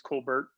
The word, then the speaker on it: Colbert: been rumors that uh kevin colbert colbert not sure how he pronounces it i think it's colbert um kevin colbert is